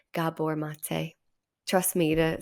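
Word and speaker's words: Gabor Maté: hard and it's intense I said his name wrong of course I said gabber mate and I was quickly corrected Gabor mate trust me to say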